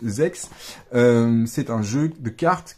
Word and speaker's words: Z/X: Alors ZX qu'on prononce Zex, c'est un jeu de cartes qui se joue uniquement en Asie, au Japon essentiellement.